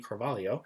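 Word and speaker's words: Cravalho: casts that are coming back is um Ali Calo uh Calio now the way the pronunciation for that last name I had to look for a uh her specifically saying it so that's Ali Calio then you have Dwayne Johnson of course who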